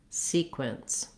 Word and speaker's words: sequence: shorter and you have a reduced vowel there so even though we have the letter e we say an vowel here and the letters q you say the sounds together if it helps you you can say wins quince sequence building it up from the back sometimes helps you get those sounds differently just make sure that you have more length on your c than your sequence so then looking at